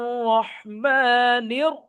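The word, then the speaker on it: رحيم: রাহমানির রাহিম রাহিম হা এর উচ্চারণটা রাহমানির রাহিম রাহমানির রাহিম সাজ্জাদ ভাই বলেন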